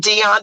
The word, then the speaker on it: Dion: Ronald say it for me good sis Ronald Deon de Sanz I love and the thing the crazy part is it's spelled Dio n and there is another illustrious